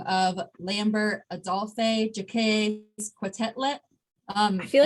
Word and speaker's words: Quetelet: But Adolphe Jacques Quetelet created the Quetelet Index. I think the T is silent. I think it's Quetelet.